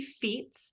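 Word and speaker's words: fiets: anybody who's listening um it is called happy Feats so that's a little pun the word feats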